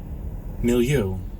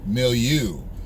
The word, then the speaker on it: milieu: Let me see how you pronounce it. Milieu. Milieu.